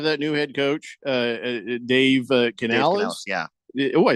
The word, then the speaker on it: Canales: Hey, so you know how the Panthers have that new head coach, Dave Canales? Yeah. Oh, I said it right. Yeah. Dave Canales, and so he came out, and I think this was my first clue.